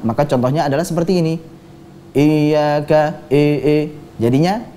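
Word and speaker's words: إياك: Sedangkan kasroh itu sempurna apabila diucapkan dengan i. Nah, kita ucapkan bersama-sama dengan pelafatan yang benar. Iyyaka. Iyyaka. Iyyaka. Iyyaka. Baik, jadi i-nya, kasrohnya sempurna, i.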